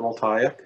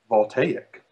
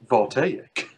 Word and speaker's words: voltaic: is there a reason you always call it volak uh that's because that's how I pronounce it okay I thought you were just